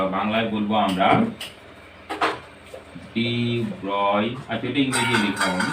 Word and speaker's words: de Broglie: করে, তার নাম হচ্ছে ডি ব্রয়, বা তোমরা অনেক ক্ষেত্রে ব্রগলিও বলো, যে উচ্চারণটা অ্যাকচুয়ালি হচ্ছে ডি ব্রয়।